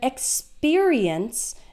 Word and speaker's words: experience: experimenting or experimented and experience notice that the PE R sounds like peer yeah instead of per experiment experience